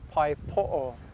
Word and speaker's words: pae poʻo: originated here in waikiki and it was actually pronounced originally paipo it was spelled p-a-e-p-o-o pai means to catch